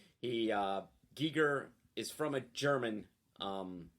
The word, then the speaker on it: Giger: that's that's why his his name would be pronounced like that because it's spelled g-e-g-i-e-g-e-r so that's that's that's ghee in the german but he his his